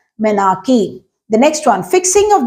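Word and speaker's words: menarche: of age is called menarchy it's spelled like m-e-n-a-r-c-h-e but it's pronounced as menarchy the next one fixing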